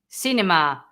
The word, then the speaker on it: cine: When you pronounce it se, cinema, century, I can't think anymore. Okay. Then we have the ce. Yeah. Cine, Ceniza. festa, ceniza, cinturón. Okay, Yeah. so that's the only difference.